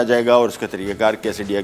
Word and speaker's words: quesadilla: और उसमें एक डिश आती है कैसेडिया। कैसेडिला भी लिखा जाता है इसको, लेकिन प्रोनाउंस को कैसेडिया किया जाता है।